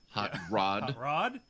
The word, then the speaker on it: Hot Rod: rod remember hot rod i have to put the emphasis on the second word um rod hot rod not hot dog yes that's a proper